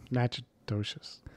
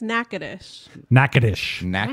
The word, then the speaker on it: Natchitoches: you got it correct or what the correct pronunciation is. Natchitoches. Wrong. Amanda? It's Natchitoches.